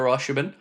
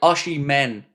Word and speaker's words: Osimhen: Romano has said that Al Halal have still not given up on Victor Ashiban h sorry Ashi men I know I keep pronouncing his name incorrectly h they've not left